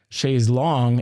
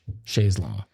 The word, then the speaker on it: Chaise Longue: But actually, it is pronounced Shaes Long in England, and it's actually from French. Sha Long.